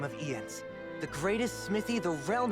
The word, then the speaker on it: Jens: and it's pronounced i-e-n-s ian's again like if it was y like jens that's fine jens like yarl for instance but ian's like they're pronounced they're not pronouncing it yens with a y sound it's e ends